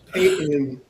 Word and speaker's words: Payton: It's it's it's Payton. Payton Manning. Yeah. There's no there's no T in Payton.